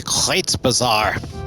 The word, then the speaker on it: Kreuzbasar: Just kind of checking around town in the Kreuzbasar, now that I know how to pronounce it correctly.